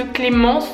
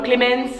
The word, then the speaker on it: Clémence: que j'y suis allée, personne n'arrivait à prononcer mon prénom parce que Clémence, il y a un N dedans. Et en fait les espagnols ne savent pas prononcer ça parce qu'ils disent N. Du coup ça faisait des trucs chelous genre Clémence, je sais pas, ils prononçaient mon prénom avec un accent chelou.